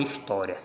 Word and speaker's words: história: Então eu tenho aqui a palavra história. História. Quando eu encontro a sílaba tônica, é essa daqui. Última, penúltima. Ela é paroxítona e foi acentuada por causa da terminação.